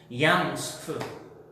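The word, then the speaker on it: ים סוף: 우리가 먹는 수프 그 발음이랑 똑같습니다. 얌 수프.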